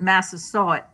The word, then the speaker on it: Massasoit: Well, I don't speak Wampanoag, but I've always pronounced it Massasoit. Massasoit?